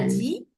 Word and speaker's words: dit: tu tu as dit on ne prononce pas le t final d'accord Valéo alors on ve dire on va dire tu as dit et tu as dit